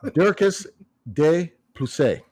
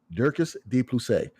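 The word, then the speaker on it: Dricus du Plessis: Dirkus de Plessis, okay? De Plessis. Dirkus de Plessis.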